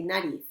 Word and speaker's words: nariz: so i say cabeza i say narith because i'm from spain and that's the way we say it here and she's she pronounces the z in a slightly different way okay so you can choose both are correct okay very good let's